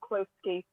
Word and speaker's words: Qlowski: They're a band from London via Italy, and they're called Klowski. How do you spell that?